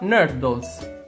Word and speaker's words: nurdles: una s è una parola inglese e si pronuncia nardo ma cosa sono in al dos questi piccolissimi